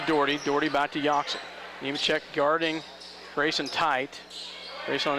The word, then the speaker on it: Nemechek: Nemechek, yeah, I had to ask for sure, and they gave me the pronunciation. Nemechek, you asked the guy next to you, I asked the one next to me.